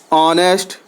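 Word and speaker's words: honest: यहां T silent है ऑनेस्ट एच ओ एन ई एस टी ऑनेस्ट इसमें H silent है और एक वर्ड और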